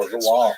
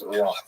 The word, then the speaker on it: Rouen: The original Latin name for Rouen was Rotomagus, and in the medieval period it was shortened to Rotom or Rodom.